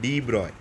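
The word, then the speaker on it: de Broglie: Last भैया जी आए, that is called a डी ब्रॉय, ये स्पेलिंग है उनका, इज़ अ फ्रेंच साइंटिस्ट।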